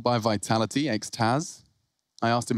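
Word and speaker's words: XTQZZZ: It's called by Vitality, X-Taz. I asked him how to say his name properly. He said, like the thing you take in the nightclub.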